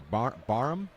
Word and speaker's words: Barham: It's let's see, Barham. Yeah, it rhymes with Barham, like you've got a shed full of tools, and this weekend I'm going to bar 'em.